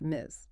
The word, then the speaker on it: Ms.: In a professional context, if you are writing to a woman, you should always use Ms. pronounced Miz.